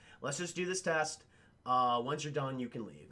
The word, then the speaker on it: Aang: Once you're done, you can leave. And he's like, okay, or An. I'm sorry, chat. I keep saying Ain. The correct pronunciation, it's On.